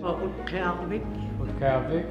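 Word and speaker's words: Utqiaġvik: Although most locals here still refer to this town as Barrow, the indigenous name is actually pronounced Utqiagvik.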